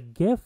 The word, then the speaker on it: GIF: the ability to animate a gif or Jif depending on how you pronounce it or you can you